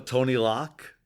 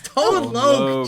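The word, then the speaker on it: Tone Lōc: Thank you to Tony Lock. No, it's Tone Lok.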